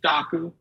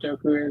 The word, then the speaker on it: Dokku: and so I think the original pronunciation he used was daku I never heard this pronunciation until like years later so I like for for background doku is um somewhat of a Heroku clone Heroku being a platform as a service and so in my head I was like Heroku okay doku because there's a D in front which is great um so like I've been mispronouncing it for about 10 years uh the other part